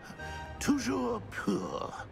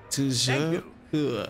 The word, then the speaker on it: Toujours pur: Toujours pur. Ha! Toujours pur.